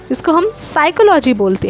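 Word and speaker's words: psychology: साइकोलॉजी होता है ना लेकिन हमें ओनली साइकोलोजी बोलते हैं इसको सील हम साइलेंट रखते हैं इसी तरीके से एच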